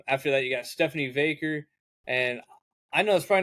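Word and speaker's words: Vaquer: Um, after that, you got Stephanie Vaker. And I know that's probably not how you say your name. I That's how I'm going to say it. How do you say it? I say Vakur.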